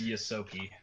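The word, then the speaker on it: Ysoki: It's Yosoki. That. Yosoki? Yeah. Yeah, there you go. Yosoki.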